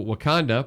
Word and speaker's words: Wakanda: And so Wakanda, pronounced Wakanda, Illinois, certainly fits the outwardly ordinary parts. It is not Wakanda, where Black Panther is from.